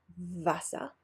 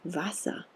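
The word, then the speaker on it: Wasser: letter so quick recap german w is pronounced like in english v Vetta vasa a german v is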